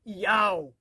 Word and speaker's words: Yahweh: O nome do Pai, e é do hebraico, Yod, Re, Vav, Re, o qual aparece 6.828 vezes nos originais hebraicos, transliterado para YHWH, pronunciado por Yahweh, foi substituído por Roma pela palavra Senhor.